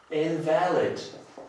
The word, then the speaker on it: invalid: Invalid oraz invalid. Okay. Jeżeli zaakcentuję tutaj słówko na drugą sylabę, będę miał do czynienia z przymiotnikiem, oznacza nieważny, natomiast invalid oznacza niepełnosprawny.